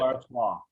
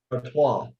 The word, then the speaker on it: Artois: Artois. Artois.